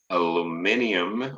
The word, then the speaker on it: aluminium: This is the chemical representation of aluminium or aluminum. We actually have two ways of pronouncing that word.